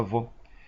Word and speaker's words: veau: Em francês é veau, se pronuncia veau.